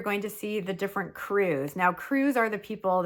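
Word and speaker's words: krewe: Once the parades begin, you're going to see the different crews. Now, crews are the people that make up the parade, and it's spelled K-R-E-W-E. K-R-E-W-E, yeah. Not C-R-E-W like you would think.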